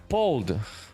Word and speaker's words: Pold: My name is actually pronounced P-O Pold.